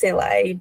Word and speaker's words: Selaj: Well, it is pronounced Selaj, but oftentimes I just say Selaj too.